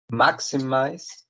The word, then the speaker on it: maximize: so three syllables yeah so maximize mac c mice has three syllables and the stress is in the first one um meaning it has